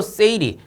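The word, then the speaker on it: 整理: 이거 뭐냐면은 일본어예요. 일본어. 일본어로 요렇게 읽는다라는 거예요. 그래서 정리라는 거 일본어로 세이리, 그 다음 정돈이라는 거 세이톤, 그 다음에 청소, 세이소, 청결, 세이케츠, 습관화를 시치케 요렇게 부른답니다. 일본에서는.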